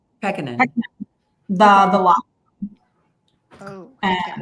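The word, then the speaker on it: Pekkanen: Did I pronounce that right? Is it Peckinham? Peckinham.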